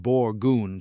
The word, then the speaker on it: Borgund: The Borgund, pronounced Borgund, stave church, for instance, was built around 1180.